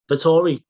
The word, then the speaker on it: Vettori: Vettori. Yeah. We'll have to learn how to pronounce his name.